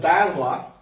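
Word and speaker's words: diarrhoea: এবার দেখো ডায়ারোয়া, ডায়ারোয়াটা দেখো, এই ডায়রিয়া বানানটা, ডায়ারোয়া মানে ডায়রিয়া, আসলে ডায়রিয়া মানে দেখো ডায়রিয়া উচ্চারণ একরকম কিন্তু বানানটা কিন্তু ভিন্ন।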